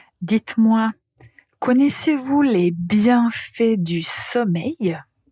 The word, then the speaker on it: sommeil: Tout d'abord concernant la prononciation du mot sommeil. Ça rime avec soleil.